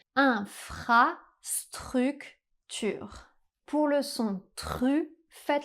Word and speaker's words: infrastructure: Pour prononcer le r français, essayez d'imaginer que vous faites des gargarismes dans votre salle de bain.